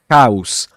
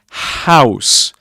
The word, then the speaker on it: house: An We've got to be careful with house. Because if your native language is Spanish, you might say house and we need to avoid that. It's house. Okay. So house house.